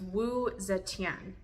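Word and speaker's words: Wu Zetian: say this hold on so it's wo Zan is how you say it so looked it up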